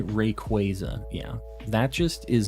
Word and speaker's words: Rayquaza: incident how you pronounced uh-oh if you don't pronounce it Rayquaza you're wrong I hate that um I've always